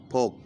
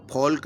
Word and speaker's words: folk: FOLK, फोक। इसमें L चुप रहता है, साइलेंट रहता है, उसका उच्चारण नहीं होता। इसको फोल्क नहीं बोलते, फोक बोलते हैं।